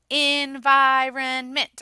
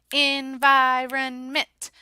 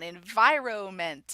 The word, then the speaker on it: environment: word with them environnement I'm gonna break it up for them environnement make sure that you're pronouncing it correctly this is a word that I get all kinds of weird things on enviro mint environment I don't know practices